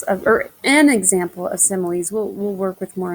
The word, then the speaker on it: similes: our similes okay similes and it doesn't sound the way it's spelled s-i-m-i-l-e-s similes are um phrases